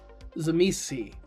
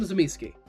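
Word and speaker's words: Tzimisce: I call them Zamiski. It's how I heard it. I still get comments on my video for them, correcting my pronunciation. And the part I find personally funny is every couple weeks, I'll get a comment about it, but it's confidently saying a different pronunciation of the clan. I say Zamiski because I am American.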